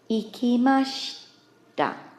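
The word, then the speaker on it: いきました: Our verb becomes ikimashita. Ikimashita. Notice the pronunciation of the she here is very, very fast, and you almost don't hear the I vowel on the end.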